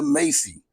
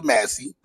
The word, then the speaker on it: Massey: Last week, man, you had the lady, Sonia Macy or Massey, I should say it right, Sonia Massey, who gets killed by the police for saying, "I rebuke you in the name of Jesus."